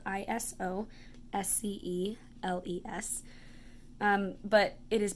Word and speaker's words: isosceles: is how it's spelled is o s Celes but it is pronounced isosceles so I remember it as I stopped and then a girl I think of her name as the lease so that helps me